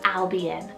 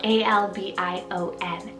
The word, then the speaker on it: Albion: onto the boy side i have the name albion so a-l-b-i-o-n albion how cool is that one it's an